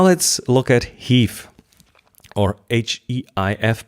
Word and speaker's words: HEIF: Now let's look at HEIF, or H-E-I-F, but I think the official pronunciation now is HEIF, which is not invented by Apple.